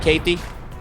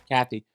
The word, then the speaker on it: Cathey: fighter Kevin good night how do you say it Katie all right Kathy see see this is